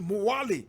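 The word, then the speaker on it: Mwali: the way to morally in fact correct pronunciation muwali in the comoros and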